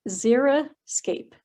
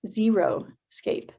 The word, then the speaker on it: xeriscape: zeros means dry and it's pronounced zera scape not zero escape so it means landscaping